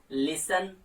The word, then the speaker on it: लिसन: Silent कर देते हैं, जैसे लिसन, सॉफन, तो यहाँ पे भी हमने टी को साइलेंट कर दिया।